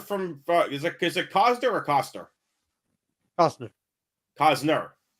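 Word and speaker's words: Costner: is it is a Cosner or coer Cosner Cosner Cosner Cosner so little so it's like silent no cner you not hear the T in there anyway to quote the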